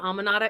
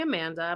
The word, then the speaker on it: Amanda: Someone thought that that is actually my name, Almanata. It's actually Amanda.